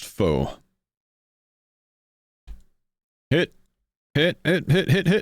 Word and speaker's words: faux: Is it fox or fox? Uh, the word is pronounced fox.